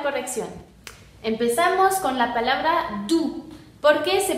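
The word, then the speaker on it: doux: Porque quedamos que OU se pronuncia U, aquí está, y la X final no se pronuncia, entonces tenemos du. Du significa suave, así como un animal, suavecito, un peluche, du.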